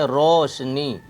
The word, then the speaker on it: روشنی: یا زیر نی، روشنی۔ یہ مجہول واو کی آواز ہے، اس کو گول پڑھیں، موٹی آواز میں پڑھیں گے، روشنی۔ صفائی، صاد زبر سا،